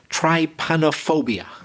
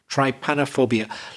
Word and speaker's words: Trypanophobia: Let's see if I can pronounce it. I think it's Trypanophobia. Yeah. Trypanophobia.